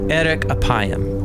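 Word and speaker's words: ארך אפים: and way more interesting in Hebrew the phrase slow to anger is pronounced Eric apayam or literally long of nose but what does God's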